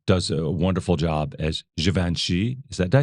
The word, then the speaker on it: Givenchy: And Ansel Elgort does a wonderful job as Givenchy.